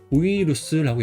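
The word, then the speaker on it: ウイルス: 우이루스라고 읽어요. 우이루스. 그래서 바이러스를 말하는 거예요. 이번에서는 바이러스를 우이루스라고 읽어요.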